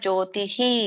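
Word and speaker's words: ಜ್ಯೋತಿಃ: ನಿವರ್ತತೆ ಹರೇ ಕೃಷ್ಣ ಅಲ್ಲಿ ನೀವು ಜ್ಯೋತಿಹಿ ಬಿಗಿನರ್ಸ್ ಇದ್ದಾಗ ಜ್ಯೋತಿಹಿ ಅಂತ ಪೂರ್ಣ ರೀತಿಯಾಗಿ ವಿಸರ್ಗದ ಉಚ್ಚಾರಣೆ ಮಾಡಿ ಹ ಮಾತಾಜಿ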